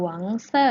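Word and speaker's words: 黄色: ไฟ ช้าง หาว ค่ะ หวง Sir แปล ว่า มี สี เหลือง นั้น เอง สี เหลือง ใน ภาษา จีน แล้ว ออก เสียง ว่า ก็ เห็น ป้า งา หวง เซอร์ ค่ะ อัน นี้ นะ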